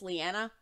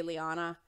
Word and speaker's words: Leanna: Some people call me Leanna. I was a baby in Tennessee, so it's Leanna. But a lot of Americans say Liana.